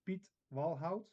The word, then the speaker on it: Piet Walhout: the correct way well the correct way is Pete wout okay but when you call me Pete it's it's okay because it's pronounced the same and everybody understands it